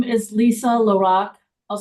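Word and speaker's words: LaRocque: name and your title my name is Lisa Lorac I'll spell it l i s a l a capital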